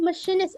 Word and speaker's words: machinist: Masinis itu machinist. Oh ya, ini udah dikirim Bro Ibrahim ya. Masinis adalah machinist. Bacanya. Machine seperti kita membaca mesin.